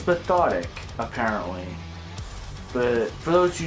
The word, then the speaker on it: Methodic: by the name of metonic I was pronouncing it method it before but it's pathetic apparently but for those who do not know